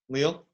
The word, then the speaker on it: Lille: Lille?